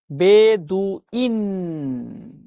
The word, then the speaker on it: বেদুইন: বেদুইন শব্দের সঠিক উচ্চারণ কি? বেদুইন। দেখেন তো এটা ঠিক আছে কিনা? অবশ্যই ঠিক আছে, এটাই রাইট। বেদুইন।